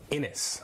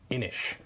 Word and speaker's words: Inis: Today we're going to take a look at Innis, or I think it's pronounced Innish.